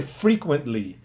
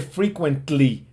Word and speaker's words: frequently: Ah frecuentemente se dice frequently y fíjense ahí ya no tampoco Suena la t no se dice frequently no frequently frequently frequently desaparece la t Okay frequently Eh y